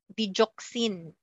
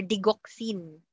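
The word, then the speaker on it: digoxin: Another example don't know how you were taught to pronounce it but you were taught dejoxin or degoxin.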